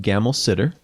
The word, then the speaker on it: Gammelsaeter: Um, it's pronounced Gamma Sitter.